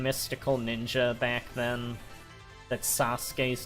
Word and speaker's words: Sasuke: thought he was called say Suk because I thought he also said that when he'd attack like I didn't realize until years later that the Japanese pronunciation is Sasuke oh and if you